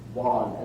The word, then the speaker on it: one: Now, one sometimes is pronounced wan, as in wonton soup, right?